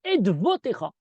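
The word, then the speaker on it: עֵדְוֺתֶיךָ: Edotecha nemlu meot, et parfois il y a un Vav qui se prononce, et on doit dire Edvotecha.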